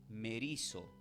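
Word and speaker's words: μερίζω: Entonces en el texto del capítulo de Mateo 12, 25, la palabra traducida como dividida proviene del verbo griego que se pronuncia como merizo.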